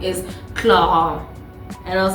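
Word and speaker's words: Clarins: pronunciation of it we all know it as Clarance but apparently the correct French pronunciation is CLA and I was like I'm sorry say what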